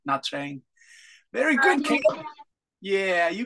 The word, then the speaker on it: Nha Trang: There it is in Nha Trang. It is. Yeah. Yes. Yes, you know this place. What's the name? Yes, Oliver. Teacher, my hometown is that place. Oh, Ken, your hometown is Nha Trang.